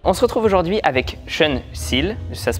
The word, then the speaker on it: Sean Seale: On se retrouve aujourd'hui avec Sean Seal, ça se prononce comme ça?